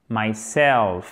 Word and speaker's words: myself: prenant réfléchi qui sera myself avec l'accent tonique sur la seconde syllables donc c'est ce que